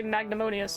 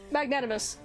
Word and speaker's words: magnanimous: if you're not mistaken these people usually say magnemonious I think is hell this is what they use magnanning magnanimous it's been a long day when I can't